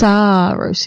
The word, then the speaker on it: Sarosi: There's two A's in there. It's throwing me off. Saarosy. It's pronounced Sarosi.